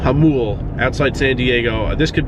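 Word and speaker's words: Jamul: Like in how do you pronounce it? Yamul? Hamul. Hamul, outside San Diego.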